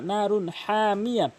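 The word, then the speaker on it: نَارٌ حَامِيَةٌ: একটি গুরুত্বপূর্ণ নিয়ম মনে রাখবেন, তানভিনের পরে হা এসছে মানে নুন, আপনার ইজাহারা হাকিকির হরফ 6টি, হামজা হা আইন হা গয়েন খ। এই হাটি নুন সাকিন অথবা তানভিনের পরে যদি আসে বা 6টি হরফের মধ্যে থেকে যে কোনোটি আসে তাহলে তানভিনকে কখনোই গুণনা করতে পারবেন না।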